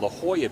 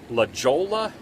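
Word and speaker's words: La Jolla: I actually called it Laola Beach because that is the way it is spelled. And over time, I have been corrected that this is La Hoya Beach near San Diego.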